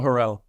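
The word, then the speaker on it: Har'el: Alma Harrell.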